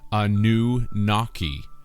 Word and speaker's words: Anunnaki: Anunnaki is phonetically Anu-Naki, or a new water